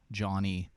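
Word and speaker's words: Jawny: and he he actually if you follow him it's spelled j-a-w-n-y johnny j-a-w-n-y bad luck uh follow him uh he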